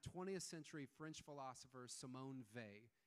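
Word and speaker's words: Weil: comes from that 20th century French philosopher Simone Vey it's spelled w-e-i-l pronounced they she's a genius and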